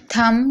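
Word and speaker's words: thumb: थम, यहाँ पर भी आप देख रहे हैं एम के बाद बी है तो बी साइलेंट है।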